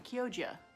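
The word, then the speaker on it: Chioggia: and already it's gone kyojia it is a soft g isn't it damn it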